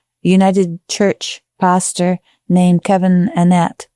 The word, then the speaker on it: Annett: So Kevin Annette Annet I believe he's he pronounces he and he's very particular about this. Sorry about that. I don't know. I I've just been told but I was saying Annette I was told it's Kevin Annette.